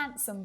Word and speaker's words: handsome: I had the most delicious sandwich last Wednesday when I was on a date with a handsome boy.